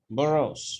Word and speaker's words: boroughs: বরোস বরোস, আমরা উচ্চারণটা আবার দেখবো এখানে।